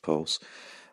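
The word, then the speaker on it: PVLSE: LSE I am making a while sumption it's pronounced pulse but you know what that system does is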